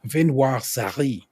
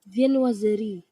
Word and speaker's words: viennoiserie: I want y'all to hear Hold on. I'm gonna say it, and then I want y'all to hear how it's actually said. I kind of wrote it out phonetically for myself. Viennoiserie. Viennoiserie, French. Viennoiserie.